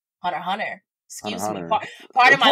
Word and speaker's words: Hunter x Hunter: Do you pronounce the X in Hunter x Hunter? Sometimes. Because I think I just said Hunter x Hunter, didn't I?